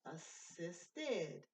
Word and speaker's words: assisted: The simple past of assist is assisted. The id, you hear that id sound? Okay, ends in T. Assisted. So we've got the extra syllable.